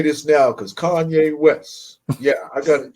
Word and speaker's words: Kanye: I mispronounced it. So I said, yo, what's good, Kane? He was like, yo, it's Kanye, nigga.